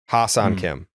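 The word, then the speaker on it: Ha-seong Kim: the the infielder for the Padres yes Hassan Hassan Kim is that how you pronounce it yeah yeah oh I never knew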